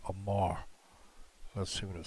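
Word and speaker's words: אָמַר: I think that is pronounced Amar. Let's see what it says here. Strong's H559. Amer.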